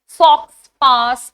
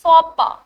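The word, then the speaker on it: faux pas: नाउ इट्स नॉट फक्सपास। इट्स फोपा।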